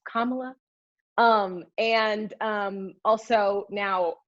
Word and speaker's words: Kamala: primaries um news anchors and reporters are still mispronouncing her name it's not kamala it's not kamala it's not pamela it's kamala um and um also now a big ridiculous